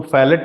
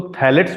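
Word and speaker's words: phthalates: spelling थोड़ा गलत लिख दिया है मैंने, फै इसको फैलेट नहीं बल्कि थैलेट बोलते हैं, इसमें तो बताऊंगा, ये भी टॉक्सिक होता है कुछ, बल्कि इसको ऐसे लिखते हैं, पीएच साइलेंट होता है इसमें, टेरी, पीएच, टी एच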